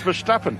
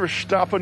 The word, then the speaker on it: Verstappen: We're discussing how to pronounce Verstappen.